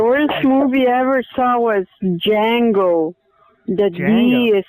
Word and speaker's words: Django: in it the worst movie ever saw was Django that me is silent that wasn't awful that was a good